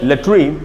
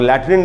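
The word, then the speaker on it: latrine: हैं उसको बोलते हैं लेट्रिन। और लैट्रिन उच्चारण नहीं, इसका उच्चारण है लेट्रिन।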